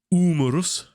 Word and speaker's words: umerus: so we have uh umarus umerus getting the u pronunciation correct there like ursus and we appear to be